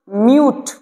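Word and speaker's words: mute: এম ইউ টি ই তো হয়ে যাবে এটা উচ্চারণ মিউট এম মানে হচ্ছে ম একটা হস্কার একটা হস্যু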